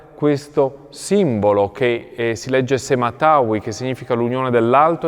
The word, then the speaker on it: sema-tawy: si vede da una parte questo simbolo che si legge Sematawi, che significa l'unione dell'Alto e del Basso Egitto.